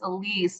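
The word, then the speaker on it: Aliese: Um so my middle name is Elise but it's spelled a l i e s e so it's like the French version of Alice.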